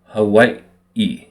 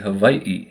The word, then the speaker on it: Hawaii: the w for us so it's actually Havi and then you hear